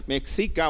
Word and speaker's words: Mexica: leer, de una editorial mexicana que pone cosas muy interesantes, y de hecho se llama así la página, muy interesante. Y estaba leyendo sobre una deidad mexica o mexica, como se pronuncia, o azteca, que tenían nuestros antepasados.